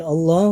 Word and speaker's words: Allah: tapi tebal Rosulullah tebal kemudian lafadz Allah bisa aja dikatakan sebagai tarqiq atau tipis dalam membacanya karena lafadz